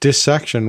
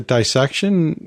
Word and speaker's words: dissection: part we're using here the word part we're using here is dis and we don't normally pronounce that as dice so it makes sense that this section would be the correct pronunciation however as we've discussed